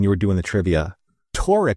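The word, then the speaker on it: Taurik: Tori is spelled T A U R I K. Voric is spelled V O R I K, but phonetically they're the same.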